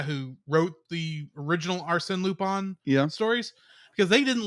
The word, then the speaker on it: Lupin: have to call him pronounce his name in the Japanese way of lupon instead of Lupin as is a little